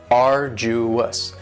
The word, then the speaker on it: arduous: next is arduous and arduous has three syllables and the stresses on the first syllable arduous now you don't hear that D sound that much it's not very strong it almost sounds a little like a.j arduous arduous and something that